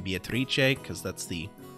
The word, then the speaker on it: Beatrice: with is of course beatrice or uh beatrice uh that's because that's the italian pronunciation of the name which is what they